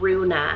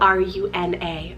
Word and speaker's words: Runa: Then I have Runa, spelled R-U-N-A, Runa.